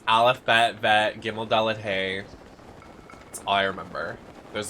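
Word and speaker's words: ה: Hey is pronounced like the H in hello. Like H in English, it's silent at the end of words.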